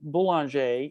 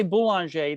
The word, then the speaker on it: Boulanger: my Francophone friend, Celeste, when I say Boulanger, that's what I have always said. Is that actually the correct pronunciation? Celeste? Celeste is letting me down. No. Sorry. I had to find my unmute button. I'm certainly not an expert, but I would say boulanger. Okay, that's much better.